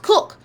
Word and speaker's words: Koch: cuz they were like coke but then I said it they said in the articles not the same and it's pronounced cook so it's the cook